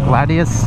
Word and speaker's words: Gladius: one this one looks too much like a Gladius that's how you pronounce it Gladius Gladius ah it's so smooth this bike is